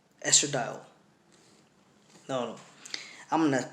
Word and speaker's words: estradiol: it spells est are a di o l estradiol no I'm gonna pronounce it like that estradiol now estradiol is producing the ovaries right that's